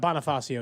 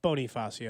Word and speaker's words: Bonifacio: hey by the way it's not Bonifacio it's Bonifacio and you're like what since